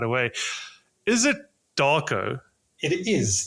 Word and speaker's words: Darko: right away is it Darko it is it's it's basically how it's written I I tell people that Eastern Europeans don't have any imagination so it's how it's written is how it's pronounced yeah okay okay cool